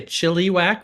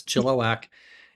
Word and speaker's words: Chilliwack: I am in Chilliwack, Canada, which if you say Chilliwack, which is kind of how it's spelled, they'll laugh at you, they'll mock you, but it's Chilliwack in British Columbia, not too far from Vancouver.